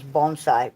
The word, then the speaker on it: bonsai: look to well, it actually the way to pronounce it is bonsai, but bonsai growers.